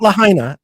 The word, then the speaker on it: Lahaina: say that Lahaina not Lahaina not Lahaina but Lahaina I like that that's how they pronounce it that's how I I